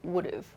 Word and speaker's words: would've: statement, I would have, and the pronunciation changes to would've, would've. If I had, I would've.